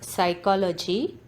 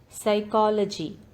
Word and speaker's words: psychology: letters in words so in this word psychology the letter p is silent so you can underlined the letter p psychology no the letter k